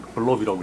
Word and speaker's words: BLOB: BLOB는 블럽이라고 읽고 블럽.